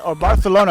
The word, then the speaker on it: Barcelona: go so if you see her in Barcelona barthelona it's actually pronouncing it correctly go go say hi or